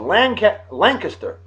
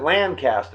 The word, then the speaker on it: Lancaster: On this day in 1812, Peter Galliard of Lancaster, Pennsylvania. 200 years ago today. How about that? Because they don't pronounce it Lancaster.